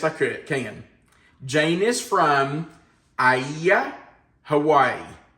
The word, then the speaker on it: Aiea: Jane is from Aiea, Hawaii. It's spelled A-I-E-A.